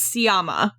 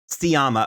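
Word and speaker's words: Sciamma: directors name wrong it's sciama sciama okay yeah I was like making a hard C sound and I was like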